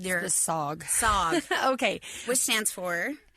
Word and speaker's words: SAWG: The SAWG.